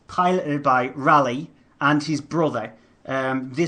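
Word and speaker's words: Raleigh: Jas is piloted by Riley or rally I I call them Ry it's rally it's rally yeah it's like it's like the bike it's like the B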